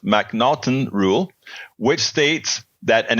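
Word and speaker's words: M'Naghten: should be familiar with the Mac the mnon pronounced mnon rule which states that an individual suffers from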